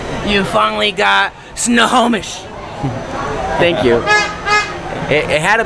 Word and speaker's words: Snohomish: We got a Darren LaRoque is cooking, so proud of you, and a good job on the pronunciation. You finally got Snohomish.